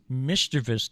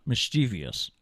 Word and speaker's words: mischievous: It's mischievous, not mischievous, right?